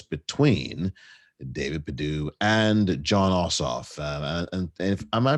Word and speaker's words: Ossoff: one of course between david perdue and john ossoff and am i pronouncing his name right i always get his